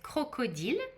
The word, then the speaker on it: crocodile: So I'll say them in French so you can pronounce them in French if you'd like to. So crocodile is crocodile.